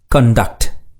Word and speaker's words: conduct: இதன் உச்சரிப்பினை கூர்ந்து கவனியுங்கள். Conduct. Conduct. Conduct. Conduct. இதே சொல் நவுனாகவும் வரும். Conduct. நவுன் என்றால் நடத்தை, ஒழுக்கம் என்று பொருள். நவுனாக வரும் பொழுது இச்சொல்லை conduct என்று உச்சரிக்க வேண்டும்.